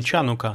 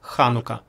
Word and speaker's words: Ханука: Если вы видели, как она пишется на английском с CH, знаете, это не Чанука, здесь в иврите нет звука Ч, но это Ха, Ханука.